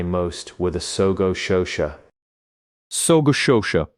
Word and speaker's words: sogo shosha: So Shosha, pronounced roughly So Shosha, translates literally as comprehensive trading company.